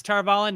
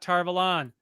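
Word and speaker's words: Tar Valon: okay the flame of tarvallen yes tarvallen not tarvalan you're just not having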